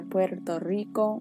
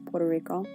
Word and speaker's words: Puerto Rico: So on the top left, I think the most recognizable one, is Puerto Rico, or Puerto Rico, as most Americans say it.